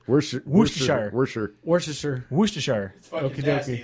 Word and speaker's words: Worcestershire: It's like, if you look at it in the English language, it looks like it has 4 syllables, but apparently you do not pronounce that first R.